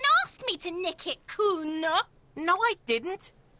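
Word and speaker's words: Cuno: Have you come to make your offering to Kuno? Oh, not this dreamer shit again. Why do Kuno's bitches always try and bring Kuno that... It was only once. And you fucking asked me to nick it, Kuno.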